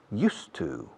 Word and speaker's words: used to: Se escribe used to, pero se pronuncia used to. Hierba, hielo, hiedra, used to.